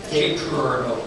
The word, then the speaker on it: Cape Girardeau: Somehow, besides Rush Limbaugh, there are people from the area of Cape Girardeau, how do you pronounce it? Cape Girardeau.